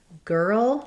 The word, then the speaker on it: girl: difficulty with the word girl, which has the same elements of the and the ul. Again, just thinking about it like two pieces, and then ul may be helpful as well.